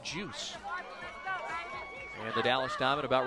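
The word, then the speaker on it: Joos: that name you know it's about Jay o OS pronounced juice at the Dallas diamond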